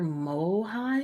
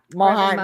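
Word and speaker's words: Mohiam: So she is Reverend Mother Mohaim. Yeah. Mohaim.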